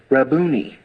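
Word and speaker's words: Rabboni: the voice so she turned and she said raboni now I told you it's not Hebrew it's actually Aram is Rabani and it's transliterated into Greek and we transliterate it and it's pronounced raboni but the Hebrew word and they took it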